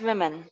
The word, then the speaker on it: women: यहाँ प्रोनाउंसिएशन देखिएगा, इट्स वुमेन, वुमेन.